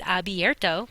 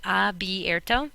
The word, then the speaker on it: abierto: means to open, is abierto. Please make sure you spell that correctly. If people sort of have a dyslexic moment and switch these around and also mispronounce it that way, so abierto.